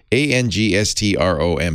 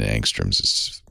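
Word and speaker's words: ångström: it's angstrom yeah angstrom a-n-g-s-t-r-o-m swedish word so the a has a little halo over it and the o has an umlaut so it's probably pronounced angstrom it's named after a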